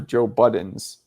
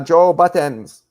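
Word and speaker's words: Joe Budden: will confuse you for Joe Buttons. I don't know why you pluralized his name. That's the Honduran pronouncing. It's Joe Button. Honduras are like, "Ah, Joe Buttons."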